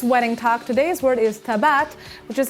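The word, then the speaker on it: טבעת: with all this wedding talk today's word is Tibet which is how you say ring in Hebrew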